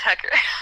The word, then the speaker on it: Hecker: I know it's spelled weird, but it's Hecker.